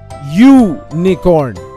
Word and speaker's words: unicorn: of the word unicorn here the vowel U has a consonant sound or the sound of the letter Y we say u nakorn we use AA before